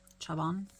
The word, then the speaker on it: Chabon: Chabon.